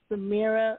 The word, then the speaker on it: Zemira: uh is the mirror and on instagram it's samira music v-e-n-i-r-a music yeah z-e you say spell it again z-e-m i music m-u-s-i-c the way